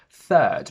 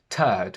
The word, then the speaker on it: third: And be very careful with the word third, because by not pronouncing the th, I hear turd, which is a long piece of shit.